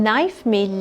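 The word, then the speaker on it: knife: बता दें आपको कि स्पेलिंग्स में के एक लेटर लिखा हुआ नजर आ रहा है लेकिन ना इसमें लेटर थे जो है वह सायलेंस है 100 इसको हम बोलेंगे नाइस मैं यह फ्रंट की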